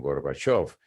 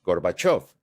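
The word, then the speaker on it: Горбачёв: Ahora, de of of, ahora pronuncia of con el acento y dilos juntos, Gorbachov.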